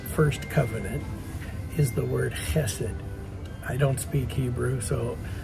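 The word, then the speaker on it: chesed: One of the most strategic words I think in the first covenant is the word hassid.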